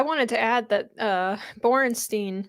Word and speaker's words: Borenstein: on yeah I wanted to add that uh borenstein right that's the right pronunciation of his name uh at the AP